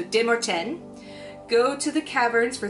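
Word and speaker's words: Demorthèn: The whole community, led by their De Morten, which I was mispronouncing in my first review, it is French, so they don't pronounce the TH like the, it's te, so De Morten, go to the caverns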